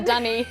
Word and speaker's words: dunny: It sounds so much cuter, like because it rhymes with bunny. Wait, such a romantic perspective on the dunny.